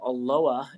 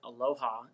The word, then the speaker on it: Aloha: uh, where we call Aloa. And for some reason, we call it Aloa. Don't call it aloha even though it's spelled exactly like aloha.